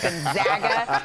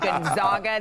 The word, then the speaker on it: Gonzaga: Gonzaga. This is the PSA announcement that we need to do every March. It is Gonzaga, not Gonzaga. They are the Zags, not the Zogs, and that is how we pronounce it.